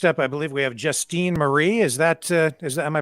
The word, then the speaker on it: Justine Marie: And next up, I believe we have Justine Marie. Is that, am I pronouncing your name correctly?